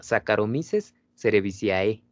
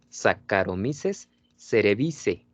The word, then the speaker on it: Saccharomyces cerevisiae: bien recuerdo, nos decía Saccharomyces cerevisiae, ¿no? Y no. Esta terminación se pronuncia solamente E. Saccharomyces, aquí fíjense, esto se pronuncia como K. Saccharomyces cerevisiae.